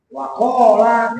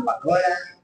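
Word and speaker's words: وقال: waqala Wakola jangan pakola. Mantap nih bacanya.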